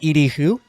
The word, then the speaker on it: Edie Hu: I am joined today by Edie Hu. Did I pronounce that correctly?